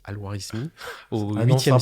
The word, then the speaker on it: Al-Khwarizmi: Le terme d'algorithme vient du savant perse Al-Khwarizmi, comme ça se prononce, Al-Khwarizmi, C'est au un nom 8e sympa.